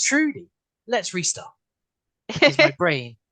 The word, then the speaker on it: Trudy: Trudy, Yeah, how are you? good, thank you. So, and thank you for correcting from Judy. Judy is like the most common mispronunciation of my name.